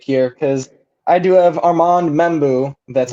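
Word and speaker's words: Armand Membou: Yeah, I like where your head is going with this pick here because I do have Armand Membu, that's how you say it, to the New York Jets.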